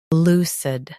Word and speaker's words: lucid: Today we will learn how to pronounce the word shown on the screen, lucid. Both US and UK have the same pronunciation of this word. Stress, L. Keep sud soft and quick.